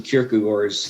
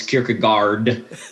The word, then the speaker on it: Kierkegaard: pronounce it wrong is kierkegaard but in danish we don't pronounce the d and if the a